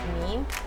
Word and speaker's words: meme: I mispronounced a lot of words, and one of them I think was meme. I used to say, what would Mimi? I think I would say mimi.